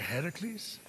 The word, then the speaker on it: Heracles: doing here sparkly thing with your voice the heracles yeah that that is how it's supposed to be pronounced seems like a lot of work but